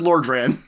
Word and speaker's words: Lordran: So, It's pronounced Lordran.